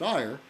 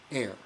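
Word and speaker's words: Éire: And he said in Irish, the E-I-R-E is pronounced air. Air, as in the atmosphere, air.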